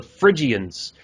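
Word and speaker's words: Phrygians: But with this particular cap, it belonged to this group known as the Friians. And that's spelled P H R Y G I A Ns if you all want to look it up.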